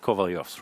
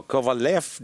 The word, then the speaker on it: Kovalyov: names, but they're both Kovalyovs, right? Yeah. No, Kovalev doesn't make sense in, say, in any Slavic language. It's always Kovalyov, and then depending on how you spell it, then, people read it.